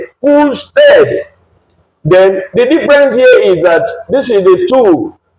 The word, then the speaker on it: usted: Remember the pronunciation, not usted. No, it's usted.